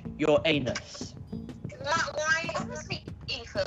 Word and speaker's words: Uranus: Ethan, it's pronounced your anus.